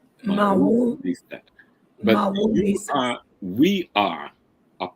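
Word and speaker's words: Mawu-Lisa: A sister keep getting me the pronunciation Mawu Lisa. Mawu Lisa.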